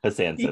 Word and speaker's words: Hassansins: I may have not even pronounced it right, because like there's an N in the middle and I don't think I pronounced that N. Yeah. It's a made up word. Hassansins. That's what it is. Hassansins.